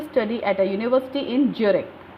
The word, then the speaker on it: Zurich: at a university in Zurich. Actually not Zurich नहीं है, यूरिक बोलते हैं, Z इसमें साइलेंट रहता है।